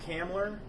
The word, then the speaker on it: Hamlin: urge you is what people have mispronounced my last name Hamlin so frequently they always like to put a B in there so frequently than my